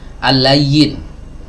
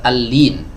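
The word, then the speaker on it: اللين: Ya, sebagian dari kita kadang ada yang membacanya al-layyin. Nah, ini kurang tepat ya. Yang benar al-lin, lamnya di kasrah, bukan di fathah.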